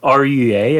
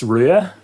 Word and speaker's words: Rua: Uh it's Irish for redhead because uh so how do you pronounce it? RUA. It's RUA.